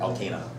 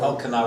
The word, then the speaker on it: Elkanah: Elkanah. Anyway, Elkanah would be probably a better Hebrew pronunciation.